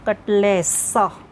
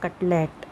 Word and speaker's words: cutlet: Generally we people pronounce it कटलेसा, it is not that, it is कटलेट।